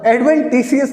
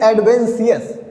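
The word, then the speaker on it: adventitious: अब आप प्रोनाउंसिएशन गलत मत करिएगा, एडवेंटिशियस लिखा हुआ है ना, एडवेंटिशियस नहीं है, दैट इज एडवेंशियस।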